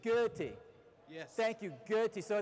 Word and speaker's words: Goethe: Goethe? It wasn't too terribly wrong. It's Goethe. Goethe.